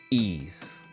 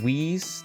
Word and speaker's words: Ys: I figured out how to say it. Ease, not whis, not wise, not eyes. Ease.